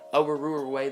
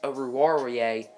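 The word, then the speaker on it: Oruwariye: away or over warrior I think that's actually how you say it I've been saying over ruler away this whole time but I actually think it's over warier cornerback from Penn State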